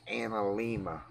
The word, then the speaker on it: Analemma: But the way it's pronounced is anal Emma.